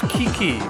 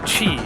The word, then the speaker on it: Qiqi: I would have expected it to be pronounced Kiki because you know Q. But no, it's Well- Chi.